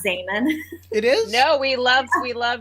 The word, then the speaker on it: Zaman: I mean, everyone pronounces it Zaman because in Turkish, Zaman is pronounced, it means time. And that's how it is pronounced.